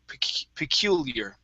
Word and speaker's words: peculiar: that right so but we want to pronounce the e and the a here at the end peculiar peculiar peculiar try that peculiar there you go one